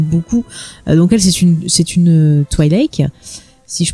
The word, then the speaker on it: Twi'lek: Donc elle, c'est une Twi'lek, si je prononce bien. Ouais. Alors personne sait bien prononcer Twi'lek. Ouais, là, donc Twi'lek. Tout est accepté. J'ai vu Toilette aussi, mais bon.